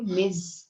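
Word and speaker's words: Ms: ठीक है, इसको मैंने आपको बताया था, इसे प्रोनाउंस करते हो मिज। मिज जैसे MIZ लिखते हैं, इस तरह साउंड इसका होता है मिज।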